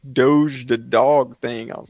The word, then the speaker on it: doge: super chats with doge doge is that how do you say that i mispronounce everything this is what i was calling a doggy coin and it's almost like it's doge coin i'm like like dosia cat and they're like no like doge the dog thing i